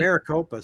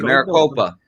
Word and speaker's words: Maricopa: You got to pronounce that city for me, buddy. Maricopa, Stacy. Maricopa.